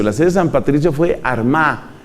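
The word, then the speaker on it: Armagh: sede san patricio fue arma que se escribe con gh al final san patricio desde la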